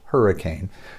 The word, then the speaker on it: Hurricaine: That's Hurricaine, like Novocaine, hurricane spray.